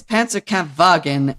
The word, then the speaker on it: Panzerkampfwagen: Because in German dialect, W's are pronounced as V's. So it's Panzerkampfwagen and Luftwaffe.